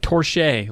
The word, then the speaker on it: Torche: to look up sandwriter torch but with an e okay like torche like somebody says something you're like hey touche but don't say it correctly say torche young widows huh oh